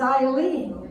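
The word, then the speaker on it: Ilene: And my middle name is Eileen, but it's spelled I-L-E-N-E after I think she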